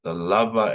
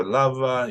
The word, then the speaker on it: lava: So lava, you can emphasize the last word, or you can emphasize the second to last.